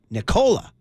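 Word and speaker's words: Nikola: learning from Mike Malone how to say it Nicola it's Nicola see I keep saying Niko I know I got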